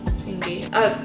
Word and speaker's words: Changi: And it was my, how do you pronounce the name of the airport? Changi? Changi.